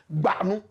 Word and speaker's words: Bawku: I know you can't pronounce it. Bawku.